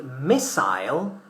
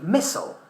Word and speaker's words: missile: We say missile in British English. We say missile in American English.